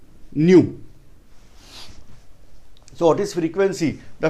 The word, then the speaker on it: nu: This is pronounced as nu.